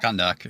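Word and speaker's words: Kahndaq: Kondak.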